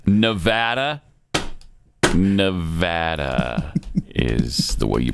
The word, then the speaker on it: Nevada: big one you love it when people say Nevada I hate oh yeah I do it's Nevada Nevada is the way you pronounce that right oh look at that he's